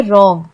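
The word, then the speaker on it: wrong: के वर्ड है जैसे रंग में डब्लू साइलेंट है हमने रंग नहीं बोला हमने रंग बोला ऐसा लगता है कि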